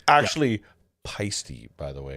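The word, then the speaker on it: Paiste: It's actually Peisty, by the way. Peisty, like feisty.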